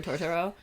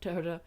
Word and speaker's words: Totoro: torto from My Neighbor Totoro so yeah like to Toro not torto um but um correct you